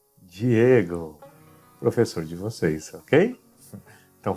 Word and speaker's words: Diego: Então, a sílaba formada por DI sempre será pronunciada como di, sem importar sua localização na palavra. Então, a primeira palavra que vocês têm que aprender é Diego, professor de vocês, ok?